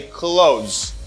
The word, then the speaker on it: clothes: And if you want, you can try to pronounce the TH sound, and this TH sound gives you a voice TH sound.